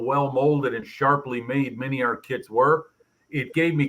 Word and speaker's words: MiniArt: MiniArt rhymes with multi-part.